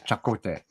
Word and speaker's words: Chakotay: Who is Chakotay? That's right. Nice pronunciation.